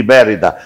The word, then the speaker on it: Mérida: É, Estudiantes de Mérida. É, o Estudiante de Mérida. Qual a pronúncia? Mérida. M-E-R-I-D-A. Mérida.